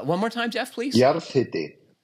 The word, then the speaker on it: jarðhiti: Jarðhiti. Jarðhiti. Yeah. Where hiti is pronounced like the tool brand Hilti without the L, or like hit with an I at the end.